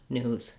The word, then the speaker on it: news: it's in the news the important thing is that your vowel is longer also when i'm linking um if i say the news is bad the news is bad i'm really going to hear that z sound as i link if